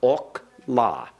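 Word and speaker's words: אָכְלָה: Therefore, it is a kametz hatuf. It has an O sound, ok, la. Ok, la. Ok, la. Remember, the accent goes on the final syllable.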